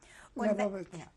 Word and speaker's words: Lebovitz: What is your name, and how do you pronounce it? Lebovitz, M-A-R-T-I-N-L-E-B-O-V-I-T-Z, Lebovitz.